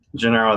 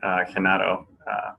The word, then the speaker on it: Gennaro: Gennaro, that's fine. Genaro would be the other way.